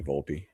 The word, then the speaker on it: Volpe: I would like to change mine to Anthony Volpe.